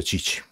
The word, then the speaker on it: Tite: il commissario tecnico brasiliano perché nel suo paese Tite si pronuncia Cicci Allora mi proprio Mi